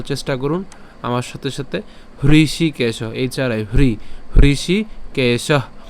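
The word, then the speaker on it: হৃষীকেশ: করুন আমার সাথে সাথে হৃষি কেশ এইচ আর চারে হৃষি কেশ কেশ কেন উচ্চারণ করলাম কারণ এখানে কি আছে বিসর্গ আছে আর বিসর্গ থাকলে আমাদের কি ছাড়তে হবে উষ্ম ছাড়তে হবে তার মানে হৃষি কেশ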